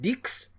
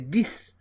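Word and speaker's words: dix: The X is pronounced as S. In this context, instead of dicks, you say this.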